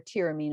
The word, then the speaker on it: tyramine: stimulant and you'll find tyramine or tyramine it's sometimes pronounced in foods like aged